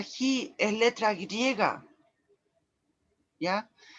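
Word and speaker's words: χ: Ya, eso es de hecho se pronuncia Ji, es letra griega, ¿ya?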